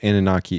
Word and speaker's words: Anunnaki: I do know Anunnaki is how you pronounce it.